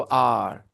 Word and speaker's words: our: Focus नहीं कर रहा, नहीं तो मैं आवर नहीं बोलता, ठीक है? ये हमारे इंडियन तरीका है, जो सही प्रोनाउंसिएशन वो आर। India is आर कंट्री India, okay, आर।